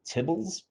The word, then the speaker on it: tibble: In the tidyverse world, they're called tibbles. I don't know why they chose that name. The abbreviation was TBL, and I guess they decided to just pronounce it as tibble.